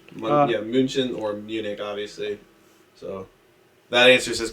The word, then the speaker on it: Munich: Munich is like the English pronunciation and spelling.